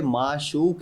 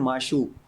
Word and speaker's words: معشوق: خلاف معشوق ہے نا, آپ بول رہے ہیں معشوق. خلاف معشوق, یہ معشوق کیا ہے؟ معشوق. قاف بھی واضح ہونا چاہیے نا.